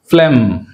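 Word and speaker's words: phlegm: Right, second one ఫ్లెమ్ ఫ్లెమ్ అంతేగాని ఫ్లెగ్మ్ అనకూడదు, ఫ్లెమ్.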